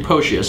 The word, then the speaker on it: Potius: Pronounced Potius, it rhymes with atrocious.